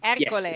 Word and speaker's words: Ercole: Ercole, yes, exactly.